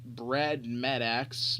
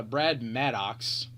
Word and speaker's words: Brad Maddox: you know um next up we got a brad MedEx I don't even know swing bad about a swing bet about a swing anyways uh Brad Maddox there we go I said it right this